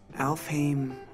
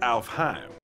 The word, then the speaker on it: Alfheim: from a game called alph him online alfame online uh actually is pronounced alfheim this motivates kiriguya to